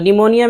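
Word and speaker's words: pneumonia: इसी तरह निमोनिया, निमोनिया तो निमोनिया में भी देखिए शुरू में पी है, एन से पहले नहीं पढ़ रहे हैं, निमोनिया बीमारी।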